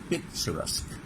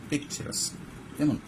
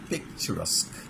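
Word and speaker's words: picturesque: মানে চিত্রের মত চিত্রবো পিকচারাস কেমন আচ্ছা উচ্চারণটা মনে রাখবা এটা কিউ ইউ নট the pronunciation is আসকিউ না কি পেচারাস্ক বলো কি উচ্চারণ পিকচারাস্ক এরকম হ্যাঁ চিত্রবো আবার দেখো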